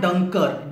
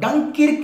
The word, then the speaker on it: Dunkirk: Yes friends, French port है वहां पर, और उस शहर का नाम है डंकर्क। डंकिर्क नहीं है फ्रेंड्स, डंकर्क है।